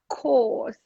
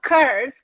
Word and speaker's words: course: So we drill pronunciation, if there are any problems. Let's say very often girls, course. Yes, I completed a course. It's not course. It's not whatever. Not curse.